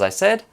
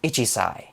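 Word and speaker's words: 一歳: this counter for example isai is how to say one years old rather than ichisai ichi meaning one sai meaning years old now this turns into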